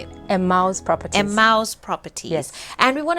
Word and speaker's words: Emmaus: Emmaus Properties.